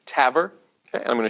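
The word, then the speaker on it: TAVR: valve replacement okay uh usually the acronym is pronounced Taver okay and I'm going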